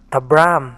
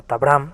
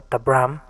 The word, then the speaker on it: Tabram: Una rápida corrección en este episodio es que el nombre de Martha Tabram se pronuncia correctamente como Tabram o Tabram, y durante la grabación del episodio lo menciono incorrectamente como Tabram.